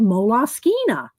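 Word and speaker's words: Moleskine: I looked it up one time years ago and at the Moleskin company, you know, and it they said Molas Skina.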